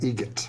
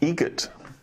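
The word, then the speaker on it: Eget: How do you say the name? Adam Egret. Egret. Spelt differently. Like the bird.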